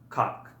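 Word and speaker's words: как: So the first word we're going to learn is the word for how, and it is pronounced kak.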